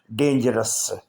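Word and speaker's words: dangerous: या स्नेक नहीं बोलेंगे डेंजरस डेंजरस में ओ साइलेंट है डेंजरस इसका मतलब है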